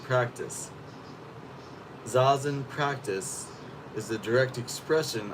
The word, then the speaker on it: Zazen: So first of all, it's pronounced Zazen. Zazen.